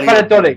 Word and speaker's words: Valladolid: I can't pronounce it. Yeah, yeah, Valladolid.